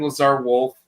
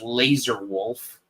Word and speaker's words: Lazar Wolf: You know, all I know is that there's a character named Lazar Wolf. And I know that teenagers who don't know Yedish always want to play that character because they mispronounce as Laser Wolf.